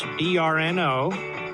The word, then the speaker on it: Brnovich: of arizona mark brnovich it's brno because the name is spelled b-r-n-o-v-i-c-h b-r-n-o for arizona b-r-n-o